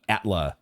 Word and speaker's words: Atla: I think I was saying it wrong last time. I had it switched up there. Uh, but Atla, we've nest atla.